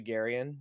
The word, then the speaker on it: Garian: But given that my first name is actually Garian, to those who don't